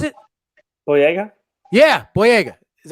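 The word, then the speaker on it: Boyega: the jump was it oh yeah yeah yeah blue egg is how you say it absolutely yeah he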